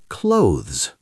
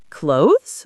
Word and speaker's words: clothes: Clothes. Clothes? Like shirts and pants? Yes, but the pronunciation is tricky Why? because of the two consonant sounds at the end.